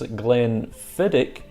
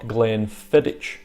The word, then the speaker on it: Glenfiddich: to point out that he pronounced this Glenfiddich not Glenfiddich as is often said to me by some people let's go ahead and